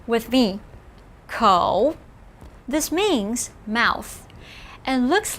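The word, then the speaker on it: 口: looks like a person with two legs ko pronounce with me ko this means mouth and looks like a mouth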